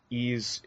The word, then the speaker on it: Ys: that don't know uh ease is spelled Ys and it's an action